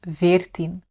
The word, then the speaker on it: veertien: The correct answer is 'veertien'. Even though we say 'vier' this changes slightly with 'veertien'. 'Dus "vier" wordt "veertien".'